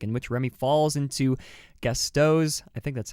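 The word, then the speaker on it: Gusteau: 2007 Pixar classic in which Remy falls into gesto I think that's how it's pronounced it's been a while since I've seen the movie Gusto you're good Gusto that's right uh yeah either way his chaotic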